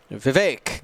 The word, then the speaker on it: Vivek: it's uh it's uh the vague that rhymes with the word ache vivek got it um this